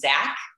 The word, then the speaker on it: Zak: came very early too my brother's name is zach it's spelled zak but it's actually initials his name